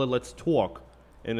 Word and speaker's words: Tawk: I want you to talk a little bit about it before we switch to RUSA. Yes, so it's called Talk Productions LLC. It's spelled TAWK.